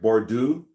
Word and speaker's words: Bordeaux: Bordeaux. I don't speak French, but I'm assuming I don't pronounce that X.